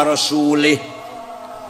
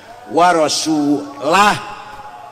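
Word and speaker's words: رسوله: Salah karena bacanya salah. Yang benar waallaha barium minal musyrikina rasulah. Allah tidak melindungi orang musyrik dan Rasulullah pun tidak melindungi orang musyrik. Wah rasulah beda dengan warasulih.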